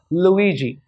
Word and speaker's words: Luigi: This is a Scottish name. It is pronounced as Luigi.